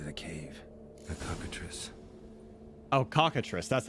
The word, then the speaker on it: cockatrice: Oh, cockatrice.